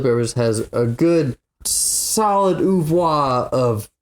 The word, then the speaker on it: oeuvre: Red Hot Chili Peppers has a good, solid oeuvre of... Oeuvre? Yeah. not oeuvre. I don't give a shit about your French pronunciation.